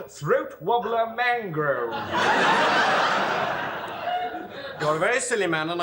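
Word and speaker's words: Raymond Luxury-Yacht: my name I'm sorry Raymond luxury yacht no no no it's spelled so this pronounced throat wobbler mangrove you're very silly man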